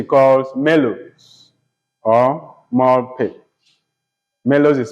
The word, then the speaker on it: Melos: Melody which he calls Mellows or more pigs Melos is spelled m-e-l-o-s m-e-l-o-s are more p m o